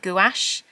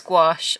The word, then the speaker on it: gouache: I was at College I've called it gach I know it's gouache I'm so sorry that I pronounce it wrong but you you know